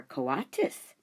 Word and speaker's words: coatis: "They are coatis," Mrs. Brisbane said, reading from the letter, "pronounced co-a-tis."